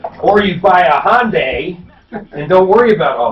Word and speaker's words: Hyundai: Or you buy a Hyundai and don't worry about all that short crank Yeah, there shit. you go. Talking a couple of Hyundai lovers, rhymes with Sunday.